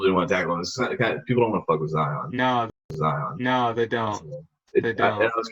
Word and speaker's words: Zion: But his name's actually said Zion. It's what? It's actually not Zion. It's pronounced Zion. But he said in high school they started calling him Zion, and he's like, it sounded cool, so I just let him do it.